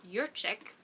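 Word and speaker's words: Jurczyk: it up your check it looks like it's polish it's pronounced your chick but either way Ava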